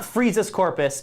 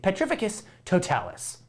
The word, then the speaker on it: Petrificus Totalis: that hit full on it's not frieza's corpus it's potificate petrificus totalis question number nine who